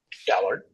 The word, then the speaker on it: Schallert: hope I say his name right Will William shaller shaller yes Bill Sher was a was every everybody's